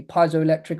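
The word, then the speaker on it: piezoelectric: word which are called pizo electric effects people pronounce it differently could be piso electric or Peto electric um materials but these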